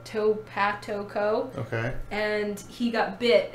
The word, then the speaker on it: TopatoCo: how to pronounce it, Topatico. So it's like potato, but Topatoco.